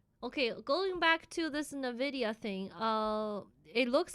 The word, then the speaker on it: Nvidia: Nvidia is pronounced Nvidia. It's not Nvidia, it's Nvidia. Nvidia.